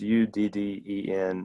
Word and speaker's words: Udden: this record by Jeremy Jeremy udine or Udin I don't know how you say his name you didn't um it's udden and the name of